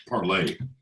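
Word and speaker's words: Parler: parlor PA RLE art it is pronounced parlay but it's um it's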